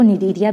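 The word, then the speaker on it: Cnidaria: सी यहाँ पे साइलेंट है, जिसको निडेरिया भी कहा जाता है, ठीक है।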